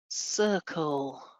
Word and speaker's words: circle: Circle, circle, soft C. Yeah, we've got a C. That grapheme, the letter C, is doing two different jobs in this word, isn't it? It's doing a soft S at the beginning and a hard K